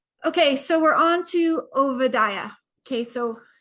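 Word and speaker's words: Obadiah: to OA okay so it's not Oba or Oba or obad it's OA OA um in Hebrew the B's sound like V's for you Southerners vad that's how you say it not OB um okay let's get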